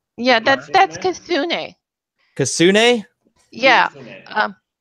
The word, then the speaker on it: Kitsune: Kitsune. Kasune. He pronounces it better than I do.